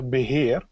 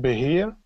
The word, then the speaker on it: beheer: We call it beheer. Now, pronouncing it quickly might sound like I'm craving for a cold glass of beer. Beer, but that's not what I'd like to talk to you about.